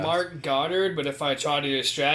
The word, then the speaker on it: Goddard: It's not that. It's like God. It's Goddard. I was like, I don't hear the difference. He's like God, but he's Goddard.